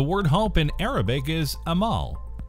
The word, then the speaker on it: Amal: Fun fact, the word hope in Arabic is Amal. To pronounce it correctly, think of George Clooney's wife, Amal Clooney. It's literally the same name.